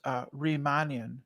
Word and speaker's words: Riemannian: So, Nathan, it's pronounced Riemannian.